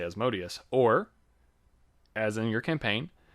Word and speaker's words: Asmodeus: How do you say that? I say Asmodeus.